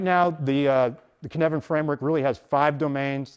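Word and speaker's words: Cynefin: And the first one is the Kinevan framework, and it's pronounced Kinevan.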